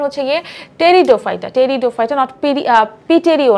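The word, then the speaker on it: Pteridophyta: এটার উচ্চারণ হচ্ছে গিয়ে টেরিডোফাইটা টেরিডোফাইটা নট পিটেরিও না টেরি হবে পি টা উচ্চারণটা একটু সাইলেন্ট থাকে তো টেরিডোফাইটা এরা কারা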